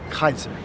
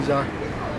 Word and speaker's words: Caesar: Kaiser so you know there is no C in in a Latin in the Greek in the Latin it's pronounced Kaiser right how do you say Caesar in uh Spanish you say Cesar uh Cesar Cesar so